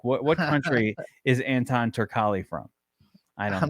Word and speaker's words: Turkalj: Turkali. All right. Anton Turkali. All right. Anton Turkali. Now there's a J at the end, but you were going to tell me that that's pronounced as a Y.